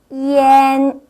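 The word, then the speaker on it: ian: 이렇게 한번 해 보세요 이와 안 바름이가 학생들이 안이라고 읽겠죠 근데 절대로 이안이 아니고요 이때는 n 발음이납니다 그래서 이엔이라고 읽어 주셔야 돼요 같이 한번 큰소리 따라해 보도록 할까요 이엔 이엔 자 예문을 보면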